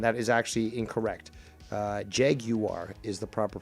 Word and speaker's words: Jaguar: jaguar you do here's the thing you do pronounce it actually properly casey um most americans and canadians call it jaguar and that is actually incorrect uh jeg you are is the proper pronunciation and you say it